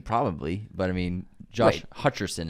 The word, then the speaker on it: Hutcherson: We cleared up Rachel Senate's name pronunciation and then Josh Hutcherson, not Hutchinson.